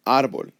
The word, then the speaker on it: árbol: However, my voice, when I say the word árbol, my voice goes up on the A. Therefore, I have to write the accent right there.